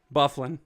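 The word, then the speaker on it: Dustin Byfuglien: uh Dustin Buffalo okay the g is silent bufflin uh we'll try this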